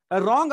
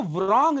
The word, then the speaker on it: wrong: जैसे रॉन्ग आप बोलते हो, तो रॉन्ग की स्पेलिंग क्या होती है? WRONG, बट आप उसको व्रॉन्ग नहीं बोलते हो।